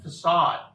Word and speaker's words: facade: Apparently it's pronounced facade.